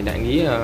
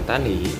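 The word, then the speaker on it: 大里: Ở bên này đại lý tiếng Việt thì đọc là đại lý, còn bên này người ta gọi là tá lỉ.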